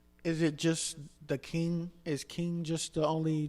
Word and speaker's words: Qing: phrase you know saying pronounce King with a Q I can't ever remember I could have been under the influence when it happened but it's King yeah which go you